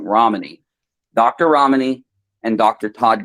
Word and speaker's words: Ramani: I apologize. I pronounced her name wrong. Ramani.